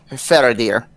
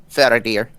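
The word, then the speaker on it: Feredir: my head uh was saying uh fair dear f-e-r-e-d-i-r fair dear damn i need to know that unless i'm pronouncing that wrong i got that right okay and so we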